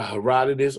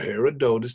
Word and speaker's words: Herodotus: published in 500 BCE by Herodotus or Herodotus depending on your preference of pronunciation called the history right